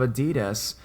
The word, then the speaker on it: adidas: the proper pronunciation of Adidas and had to share the knowledge with my friends its adidas I said not ideas out of nowhere our